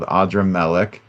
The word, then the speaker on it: Adrammelech: Would it be Adrammelech? So, correct my pronunciation if that's not right and tell us about this figure. Yeah, this guy in the Bible he is called Adrammelech.